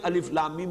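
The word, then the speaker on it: الم: है लिखे हुए हैं अलिफ लम एमआईएम जोड़े हुए लेकिन आलम नहीं पढ़ सकते इसको अलिफ लम एमआईएम जुड़े हुए लिखे हुए मिलेंगे आपको कुरान में लेकिन हां अलग अलग पढ़े जाएंगे प्रोनाउंस किया जाता है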